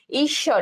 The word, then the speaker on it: ঈশ্বর: তাহলে ঈশ্বর, দেখো ঈশ্বর, ঈশ্বরে কি বলছে ঈশ্বর, ঠিক আছে, ঈশ্বর, দেখো এখানে তালব্য স দুইটা কিন্তু দ্বিত্ব, অর্থাৎ তালব্য শয়ের দ্বিত্ব উচ্চারণ হয়েছে।